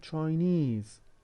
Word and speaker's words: Chinese: We also have ESE, Portugal, Portuguese, China, Chinese. The stress is on this suffix rather than the stem.